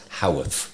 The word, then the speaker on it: Howarth: And it's just Howarth. It's Howarth. It's so easy.